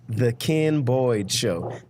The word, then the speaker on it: Ken: the can Boyd show I gotta spell it because I'm from the south and people think I'm saying something different than Ken but it's the only way I know how to say it they think I'm saying Kim or quien or whatever it's the